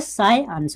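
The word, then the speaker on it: science: तो इस चीज़ को आप लोग क्या बोलेंगे, आज से साई अंश बोलेंगे, साई अंश। जो स्पीड में जो बोलते हैं ना, तो आपको पता नहीं चलता कि इसका मतलब उच्चारण जो है साइंस आपको सुनाई देता होगा, लेकिन एक्चुअली में ये क्या होता है कि इसको जो वर्ड परफेक्ट वर्ड है, यानी कि ये शुद्ध जो वर्ड होते हैं इसमें उच्चारण जो होते हैं वो साई अंश होते हैं।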